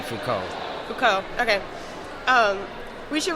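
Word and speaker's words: Foucault: it seen it written if you pronounce it in French it'd be Fuko Fuko okay um we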